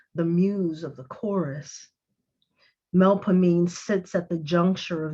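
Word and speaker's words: Melpomene: instead of nollens three mel as in melodious pah or with an o as in body me with an e that sounds like the i in with or which and a concluding long stressed syllable knee with an e as in we or free the muse of tragedy's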